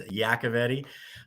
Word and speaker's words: Iacovetti: let's Dive Right In sure yeah so aavti uh the proper pronunciation is yakti uh but um I own a recruiting agency